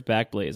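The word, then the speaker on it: Backblaze: friends once again at back blaz or maybe you pronounce it it's probably pronounced back Blaze yeah I'm pretty sure it's back Blaze all right back Blaze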